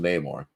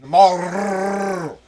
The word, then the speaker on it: Namor: I always called him Namor. Namor is what I always call him too, but apparently we've been pronouncing it wrong. It's just Namor.